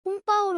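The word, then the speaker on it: 红包: 홍바오는 한자로 홍포로 표기합니다. 읽기로는 홍바오로 읽죠. 영문 발음 기호로는 홍비, 오로 표기됩니다.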